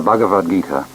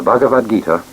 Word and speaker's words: Bhagavad Gita: classics of india the bhagavad-gita or bhagavad-gita song the song of the lord it is spelled b h a g a v a d bhagavad gita g i t a